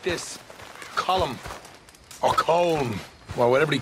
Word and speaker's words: Colm: as well it's not col col it's column in Ireland we say column well uh he likes